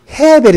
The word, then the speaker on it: 에벨: 에벨을요 히브리식 발음으로 하면 헤벨이 됩니다.